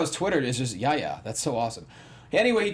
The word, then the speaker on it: Yahya: It's Yaya? Yeah, sure. Yaya. And I love how his Twitter is just Yahya.